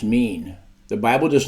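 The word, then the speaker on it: מִין: Hebrew word for kind is o i n pronounced mean the Bible does not mention species it only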